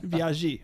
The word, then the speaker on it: Biaggi: You said it like the Karate Kid version. Mr. Biaggi, Mr. Miyagi. This is Biaggi. Biaggi.